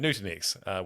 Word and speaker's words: Nutanix: Is it Nutanix? Is that how you say it? That's correct. Yeah, at Nutanix, where he started his career back in 2016.